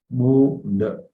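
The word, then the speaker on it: Mula: The long U, Munda.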